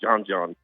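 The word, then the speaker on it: Djon Djon: Uh called It's spelled d j o n d j o n twice. Called John John.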